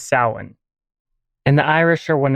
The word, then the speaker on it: Samhain: among others but the standard Irish pronunciation is Salin and the Irish are